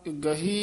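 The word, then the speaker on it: ਗਹੀ: प्रभ गुनी गरा रहा गही ही हाही नाल उच्चारण करना गई नहीं कहना सरण गई शलोक हो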